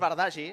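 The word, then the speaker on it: Bardagí: Sí, se'n sentia, Rooney, li deien els companys, per tant ja sortint de dubtes, li diuen Rooney, no escoltarem la pronunciació correcta del nom. Sí, perquè és Bardagi, exacte.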